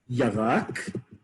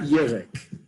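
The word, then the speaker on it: ירק: Well, the challenge, as they say here, is yarak, and it's not yerek. Yarak is a vegetable.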